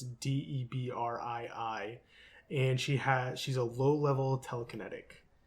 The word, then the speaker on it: Debrii: I think that's how you pronounce it. It's Debrii, and she's a low-level telekinetic.